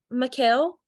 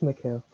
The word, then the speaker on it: Michael: student view too um Mikhail Michael I'm so sorry if I mispronounced your name um no it's Michael okay all right can